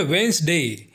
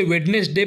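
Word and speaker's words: Wednesday: कहते हैं चौथा है वेनस डे जिसे हिंदी में बुधवार कहते हैं कई लोग इसे वेडनेसडे प्रोनाउंस करते हैं जो कि गलत है इसका सही प्रोनंसिएशन है वेनसडे पांचवा है थर्सडे जिसे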